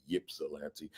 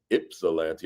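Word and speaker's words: Ypsilanti: I thought it was Yipsilante. It's spelled with a Y, but it's Ipsalante.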